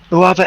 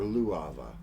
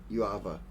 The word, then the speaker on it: Uava: Uava Eversoul. Can you say that slower? Uava Eversoul. Uava? Or Luava? You said it was UUAVVA. Okay, yeah. Uava.